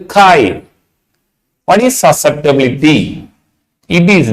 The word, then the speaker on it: chi: pronounced as what K this symbol is called Kai what is susceptability it